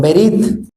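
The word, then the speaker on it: ברית: de pacto o Alianza proviene del término hebreo verit que ahí lo pongo tanto en hebreo como la pronunciación verit el cual representa un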